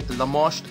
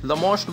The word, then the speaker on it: Lamoste: Lamoste, which I feel rhymes with Lacoste, which is a well-known brand, and so here we have Lamoste, and let's see what they offer us.